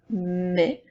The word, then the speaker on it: mes: mais encore une fois le es ensemble c'est le son est avec la lettre M qui fait M ça donne mais la différence entre lait